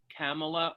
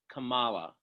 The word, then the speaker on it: Kamala: how do we pronounce kamala or kamala camelot it's like a comma i know sounds a